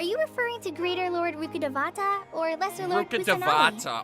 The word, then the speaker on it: Rukkhadevata: Are you referring to Greater Lord Rukkhadevata or Lesser Lord Kusanagi? Rukkhadevata, oh my god. That is a 5-syllable name, ladies and gentlemen. We're at 5 syllables.